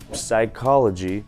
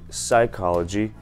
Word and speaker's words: psychology: Вместо psychology нужно говорить psychology.